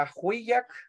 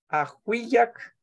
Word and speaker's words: ajuyak: Como recordemos que entre las I y las A siempre vamos a meter una Y, ¿verdad? A la hora de pronunciar. Ajuyak. Ajuyak. Ajuyak. Pero no se escribe, Tamasioni.